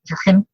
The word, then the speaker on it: Jürgen: Sutherland, and then Jürgen Appelo, say it properly, Jürgen, is wrapping it up.